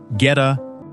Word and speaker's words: goetta: Number two is goetta, Cincinnati's breakfast fossil. Goetta is pronounced get-uh.